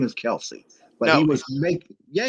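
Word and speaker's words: Kelce: yeah he also said the correct way to say his name is travis kels but that his uh he said his dad just adopted the name kelsey because everybody said it wrong and his dad just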